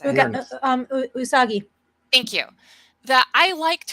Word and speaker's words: Usagi: I can't pronounce it. Usagi.